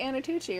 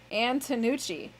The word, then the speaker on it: Antonucci: Have I been saying his name wrong all of these years? We always say Anatucci, right? Yeah. Maybe he spelled his own name wrong. Antonucci. Is it Phil Antonucci and we've been saying Anatucci? Wow, all this time. All this time. For like 8 years.